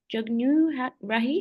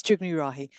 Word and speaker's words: Jugnu Rahi: Um and thank you good stab at the name. It's Jugnu Rahi.